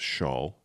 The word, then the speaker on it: Charles: Charles is his name, but it's pronounced Shawl, for you people at home.